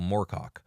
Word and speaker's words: Moorcock: Well, it's still pronounced Moor. Dang. Like a moor tough.